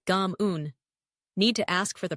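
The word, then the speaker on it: cảm ơn: Next, Kamon, thank you, which sounds a bit like Gam Un.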